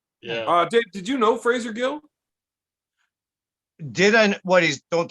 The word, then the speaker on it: Fraser Gill: I know Fraser girl why'd you say his name wrong and then say it right Fraser Gill well that's right f r a s e